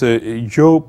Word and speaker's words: Zhou: This Zhou pronunciation, being non-Chinese could not be exact, so try to replace the ZH for J. So just like Zhou rather than Zhou. So try to replace it with J, the ZH.